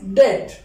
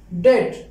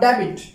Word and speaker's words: debt: mortgage not more case the third one is dead dead not debit the last one is